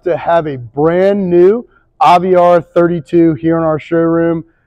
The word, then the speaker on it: Aviara: It's a new brand, a newer brand, and that's how you pronounce the name, is Aviara.